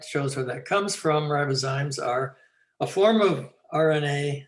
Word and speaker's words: ribozymes: Yeah, it's ribozymes. And this slide shows where that comes from. Ribozymes are a form of RNA that is catalytic.